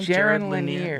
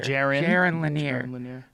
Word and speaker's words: Jaron Lanier: Jaron Lanier. Jaron Lanier.